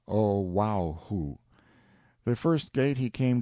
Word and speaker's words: Oahu: named him after this island Oahu pronounced oh wow who the first gate he